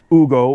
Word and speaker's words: Ugo: called Ugo which is spelled like the name Ugo or in English it'd be Hugo but it's Hugo in espanol and we also have